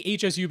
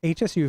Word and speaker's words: Hsu: say Shu I always I say Hsu because it's it's capitalized and if you're searching for it it's like well now you know exactly what we're talking about if I say sure you might spell that it might look for like a thing you put on your foot yeah yeah so let's